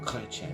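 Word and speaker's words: Chrétien: leaders Canada's 20th prime minister of Canada John Clen which is the proper way to pronounce it he reigned from November 4th 93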